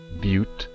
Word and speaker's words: butte: this shortcut haystack butte that is pronounced butte people don't don't need your juvenile humor there's actually a